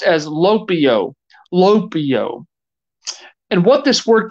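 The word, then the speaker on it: λυπέω: If you look up that Greek word here used for grieve, it's pronounced as lopio.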